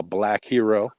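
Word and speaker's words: BLVKH3RO: of jamaica right now black hero which is spelled b l v k h three r o in case you trying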